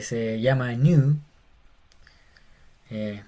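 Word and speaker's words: νῦ: Es como nuestra N y se llama new. Eh, es como nuestra N, se llama new. Y es una N como en nada.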